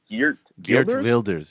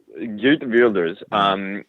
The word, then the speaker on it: Geert Wilders: And the right-wing party of, I can't pronounce it, I think it's Geert Wilders, yeah. Geert Wilders, which is a nationalist party, post-immigration, virulently anti-Muslim.